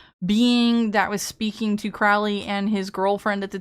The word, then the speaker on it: Crowley: So, I know a whole lot about Lom as I know a whole lot about Alistister Crowley or Crowley as you're supposed to pronounce it, but Crowley.